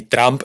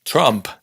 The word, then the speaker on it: Trump: El famoso caso de Donald Trump o Donald Trump, que en realidad no es ni Trump ni Trump, es Trump. Está entre medio.